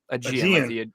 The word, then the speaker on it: Aegean: Aegean, like the Aegean Sea.